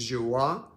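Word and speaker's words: Joie: you already don't know this is joa it is spelled j-o-i-e it's pronounced joa I guess it is beautiful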